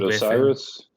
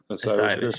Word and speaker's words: Osiris: Something Osiris. Osiris.